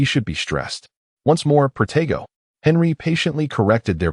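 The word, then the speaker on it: Protego: Once more, Progo. Henry patiently corrected their pronunciation.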